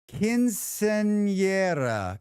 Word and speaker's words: Quinceañera: Quinceañera. Quinceañera. Quinceañera. So it's spelled Quinceañear.